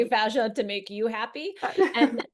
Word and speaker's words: fascia: Yeah, I used to say fascia, and then my Fascia. dad, who's a doctor, corrected me and he said it's fascia.